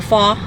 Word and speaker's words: pho: But next time I go back, I would definitely want to try the pho or pho. That's how they say it.